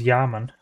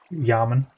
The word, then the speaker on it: Yaman: gonna test some things be pronounced my mate my name just as Yaman Yaman you can say Yaman Zero's just to know